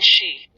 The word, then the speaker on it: Shi: Shi, pronounced like she, which connects the whole body.